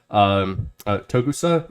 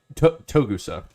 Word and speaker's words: Togusa: I'm probably not pronouncing that the best way. I apologize. Togusa, yeah, Togusa.